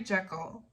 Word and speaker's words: Jekyll: Jekyll and Mr.